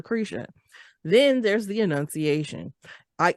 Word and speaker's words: LaCresha: My name is LaCresha. It's spelled just the way that it sounds, LACRESHA.